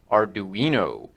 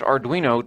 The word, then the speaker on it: Arduino: little tiny Arduino I think that's how it's pronounced Arduino uh this is a Uno I found it